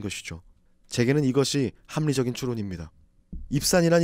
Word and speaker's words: 입산: 입산이란 이름은 원래 히브리어 발음으로는 입잔이 되는데 그것은 빠르다 이런 의미를 가집니다.